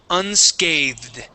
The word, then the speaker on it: unscathed: this word here is unscathed UNSC okay yeah so this one's tricky we have the voiced th with the Ed ending unscathed unscathed good good much better uh